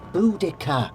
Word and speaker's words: Boudicca: see you it's pronounced Boudicca but it's spell and no because it's my name a proud I see me name and I say it's pronounced Boudicca whatever Boudicca you make a